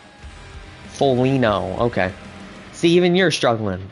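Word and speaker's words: Foligno: the way um yeah it's feno oh the G the G is the g is silent that makes sense all right well there you go folino okay see even you're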